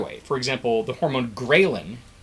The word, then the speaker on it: ghrelin: go the other way for example the hormone ghrelin spelled like this ghrelin g-h-r-e-l-i-n is a hormone that the stomach produces when it's empty and that seems to be an appetite stimulant grayling says hey you should get food so ghrelin